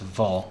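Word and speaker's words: Wohl: Now you can do what's called, I'm assuming it's pronounced vol, because he's German, a vol degradation.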